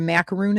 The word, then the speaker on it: macaroon: So, do you know what a macaroon is? So, this is macaroon cuz it's spelled with two O's.